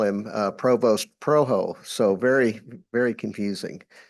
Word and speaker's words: Provost: And our speaker is Earl Provost. Now it's spelled Provost, but he tells me that the French-Canadian pronunciation is Provo.